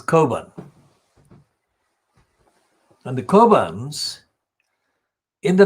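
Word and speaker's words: Cockburn: course the kerbans spelt c-o-c-k b-u-r and burn but it's an irish so its pronunciation is carbon and the kobans in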